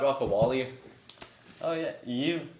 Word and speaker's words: Eve: Oh yeah, Eve? No, it's Eve, not Eva.